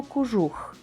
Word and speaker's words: кожух: інакше ніж пишемо наприклад пишемо кожух а вимовляємо кужух о наближене до у пишемо мотузка а вимовляємо